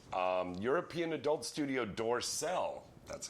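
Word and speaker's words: Dorcel: the end all right um European adult Studio dorsel that's how you pronounce it dorsel um has announced the domestic DVD release of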